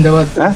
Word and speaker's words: zindabad: I take leave of you allah and Bangladesh zindabad. How do you say zindabad in in Bangladeshi language? Jindabad Bangladab instead of Zinda you say just ginder Bangladesh Jindabad and Islam Jindabad and